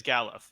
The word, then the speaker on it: Galuf: Oh yeah, I gotta change the pronunciation. Apparently it's Galuf, official.